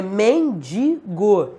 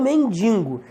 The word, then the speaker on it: mendigo: ele aquele mendigo galera Qual a pronúncia correta a ortoépia ou ortoepia da palavra mendigo não tem m é mendigo e não mendigo é mesma coisa mortadela